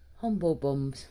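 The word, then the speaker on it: Humblebums: How would you pronounce that? Humble Bums. Humble Bums.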